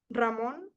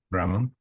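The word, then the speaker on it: Ramón: Rammon. Ramon. Yeah. Lahal is I can spell it.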